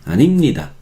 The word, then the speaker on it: 아닙니다: Pero 아닙니다, no, 아닙니다, no se pronuncia así. 저는 학생이 아닙니다, 아닙니다, 아닙니다. Nimni, nimni, nimni, animnida.